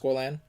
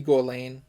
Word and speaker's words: Gorlan: I think it's pronounced Gorlan. Could be Gorlane. Nah, there's no E.